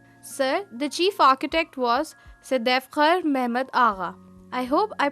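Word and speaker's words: Sedefkâr Mehmed Ağa: Sir, the chief architect was Sadefkhar Mehmed Agha. I hope I pronounced his name correctly. Yes, Said Fakhar Mehmed Agha.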